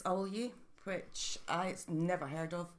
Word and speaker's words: Awelye: It's Awelye, which I never heard of.